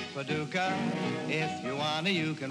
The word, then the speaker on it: Paducah: Paducah, Paducah, just a pretty little city in Kentucky, but to me it rhymes with lucky when I'm looking in your two blue eyes.